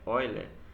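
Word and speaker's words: Euler: assim eu tá bom a pronúncia é Oil ele constatou uma coisa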